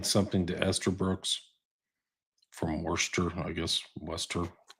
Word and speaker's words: Worcester: This is uh Hogland sending something to Esther Brooks from Worester, I guess. Worester. Worcester. Worester. Not from the east coast. You could say worester.